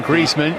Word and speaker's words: Griezmann: they are not related it's one Griezmann Antoine Griezmann we're going with the old-school pronunciation of his name tonight this is his